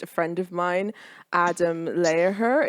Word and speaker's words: Lehrer: friend of mine adam lehrer is that how you pronounce your last name because i i feel like i've been pronouncing it wrong for like ages now it's just like it's but you can say